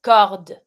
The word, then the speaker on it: cordes: Il pleut des cordes. You stop at the D, don't pronounce the ES.